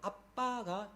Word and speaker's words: Abba: 정확한 발음은요 아바가 아닙니다. 정확한 발음은 아빠입니다. 영어로 말하면 ABBA입니다. ABA가 아니고 B가 두 개 있습니다. 히브리어로. 그래서 아바가 아니고 아빠가 정확한 발음입니다.